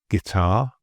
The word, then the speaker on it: guitar: So the U is really just there for spelling and clarity. It's not for speaking, as these examples show. So guess, guitar, guard, guest, and biscuit.